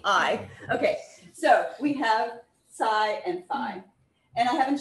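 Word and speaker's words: psi: you going to give the lecture on greek pronunciation sure yeah it's psy it scatters at the angle okay and then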